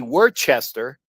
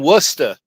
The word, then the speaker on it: Worcester: There are things like that you just know like you know Worcester. We would say it' be Worchester but when you know where you know it's I'm from Wora Massachusetts so it's it's how and all and how you know.